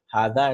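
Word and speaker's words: هذا: Haza and zalika are pronounced haza and zalika. So you don't write haza as like this and zalika as like this. It's just written as haza, zalika without the alif.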